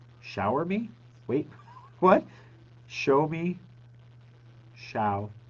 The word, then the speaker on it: Xiaomi: key boys know me the best way to pronounce that word is to think of show me and then pronounce the first word as if it were shower shower me wait what show me